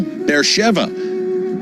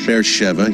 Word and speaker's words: Beersheva: an incredible spot to be with you tell bear Sheva bear Shiba it reads on the page but it's pronounced faire Sheva here in Israel a place of incredible biblical